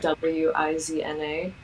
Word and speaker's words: Wizna: That's the name of the town, but it's spelt with a W, so it's Yeah. Wizna. And yeah, it's called Zajazd Kasztelanowski, if that makes it easier.